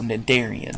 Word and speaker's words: cnidarians: this word in class know that the sea is silent so cnidarians so the first question